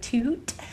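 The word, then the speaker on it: Tuut: And for our listeners, it's spelled t u u t. So toot.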